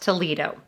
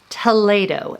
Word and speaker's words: Toledo: next up too late oh now it's not pronounced Toledo I learned that the hard way it's pronounced Toledo and I ate at Toledo with my great